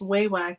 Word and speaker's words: Wawak: So Monster said, the only reason I know it's pronounced Waywack is I got a phone call from them. I was wondering that too, because I hear people say Wawak, Waywack. I say Waywack, so that's good.